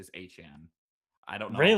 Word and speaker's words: Etienne: I think that Well, his he actually did say in his press conference that his the the correct pronunciation is Etienne.